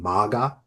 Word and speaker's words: Magha: Do people even know he's connected to a nakshatra, a lunar mansion named MAGA? It's spelled MAGHA.